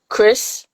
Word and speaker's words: Chris: So to play off the cover that I've shown, the two main characters, it's Chris. Well, when you read it, it's going to say Cries, but you pronounce it Chris.